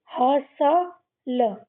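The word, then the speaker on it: hustle: यहां पे भी टी साइलेंट। लास्ट की इ को हम पढ़ते नहीं हैं। इसको क्या पढ़ेंगे? ह स ल हसल।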